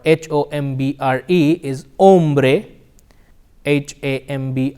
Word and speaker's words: hombre: with the letter H however the H is silent it is Ola hombre hombre okay very nice